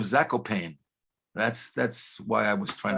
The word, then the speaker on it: Zakopane: I mean, I know I violated something by putting the accent over the E, but I was aiming at English language audiences who would then pronounce Zakopane instead of Zakopane.